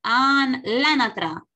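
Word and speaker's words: l'anatra: Ok, ojo, cuando tenemos así la palabra L con acento, L con apóstrofo, decimos anatra. Anatra. A ver, ¿cómo se dice, Samuel? Lanatra. Como si el apóstrofo no estuviera.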